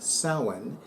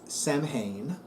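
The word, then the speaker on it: Samhain: Harvest Festival which is called sin and is pronounced sin not Sam Haan this is a point of conection this is a point of contention for many of my fellow witches it is not pronounced Sam hay it is pronounced sin so the autumnal equinox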